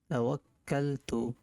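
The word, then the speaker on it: تَوَكَّلْتُ: তো বাংলা উচ্চারণটা হচ্ছে বিসমিল্লাহি, একালিফ টান হবে, তাওয়াক্কালতু, বিসমিল্লাহি তাওয়াক্কালতু।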